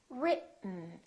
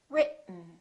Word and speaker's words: written: directly to the N this e kind of disappears it's not pronounced so it's basically the T and the N that are next to each other written keep your tongue up